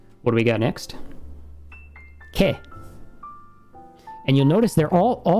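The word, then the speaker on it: け: Always ke. It's never going to be ka or ka or ke. It's just ke.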